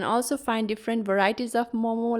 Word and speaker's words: Momo: food is Momo Momo you can also see some restaurant write it as Mama but the pronunciation is Momo we have different ways